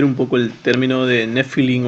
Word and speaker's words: nefilim: Que suena nefilim, ¿no? Esta es una estructura ifil. Y se pronuncia nefilim, ¿no?